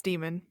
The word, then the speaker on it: daemon: watching the movies, but I believe it's pronounced daemon or demon. It's demon. It's demon? Okay. Yeah, it's demon.